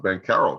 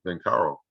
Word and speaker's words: Banchero: at banchero um yeah i think he's actually pronounced ben carroll too ben carl the ch is now so yeah lottery date